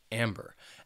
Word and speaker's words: amber: Then we have amber, which has 2 syllables and the stress is on that first syllable, amber.